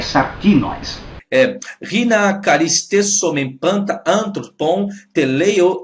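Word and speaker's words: σαρκινοῖς: Não é sacrinoi, é sarquinóis.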